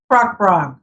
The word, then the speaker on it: bragd: name of the process braack braack bra we're all ya the D is not pronounced so in there I